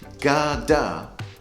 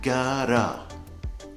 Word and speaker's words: gotta: Now, it's kind of in between gada and gara. So you can see the first part of the gotta is pronounced more strongly than the end part.